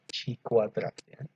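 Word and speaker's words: χ²: Al atau betul ini tulisannya x kuadrat Tapi bacanya si kuadratnya sikuat status sampel uang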